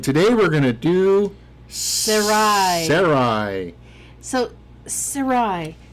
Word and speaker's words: Sarai: who is and today we're going to do sarai so sarai s-a-r-a-i i do believe that that's how it's spelled sarai yes so sarai was later named